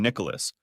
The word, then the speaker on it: Nicholas: To her, I've always been Nicholas, pronouncing all three syllables rather than blending in two.